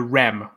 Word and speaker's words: rem: And that's this is pronounced an M and a REM.